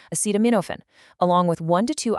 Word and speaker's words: acetaminophen: For pain, the recommended protocol is taking two extra strength Tylenol, which is acetaminophen, pronounced acetaminophen, along with one to two ibuprofen, like Advil or Motrin.